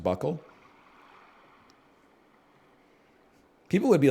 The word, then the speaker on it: buccal: It's pronounced buckle.